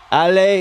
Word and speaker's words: Allez: Allez is let's go. Allez les Canadiens. Allez les Canadiens. Allez les Canadiens. There we go. No S. The S is silent.